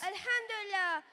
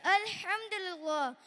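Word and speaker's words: الحمد لله: Alhamdulillah, it's finally our turn to prove our mettle. Hey, Husna, it's Alhamdulillah. You pronounce it all wrong.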